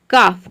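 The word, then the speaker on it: calf: ये हो जाता हाल्फ, लेकिन एल यहाँ पे साइलेंट है क्योंकि एल के बाद एफ आ रहा है, इसके लिए। काफ, काफ मतलब होता है बछड़ा।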